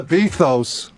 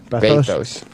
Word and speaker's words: bathos: It's not a bethos. What's a bethos? That's not, you're pronouncing the word correctly. Bethos. Bathos.